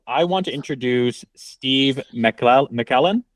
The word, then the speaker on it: MacLellan: And I want to introduce Steve MacLellan. Did I pronounce that right? In the East Coast, MacLellan, but anywhere else, you nailed it just perfectly.